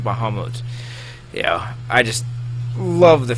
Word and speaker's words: Bahamut: everybody yeah let's see the bahamot or Bahamut um American was born in English so I pronounce it Bahamut yeah I just love